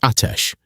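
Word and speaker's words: آتش: The word in Ottoman for fire is atesh. Two syllables, the second one falling.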